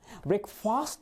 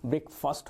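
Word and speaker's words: breakfast: सबसे पहले यहां पर भी आप मेक इट अ पॉइंट कर लीजिएगा, ब्रेकफास्ट नहीं होता है, इसका राइट प्रोनाउंसिएशन ब्रेकफास्ट होता है।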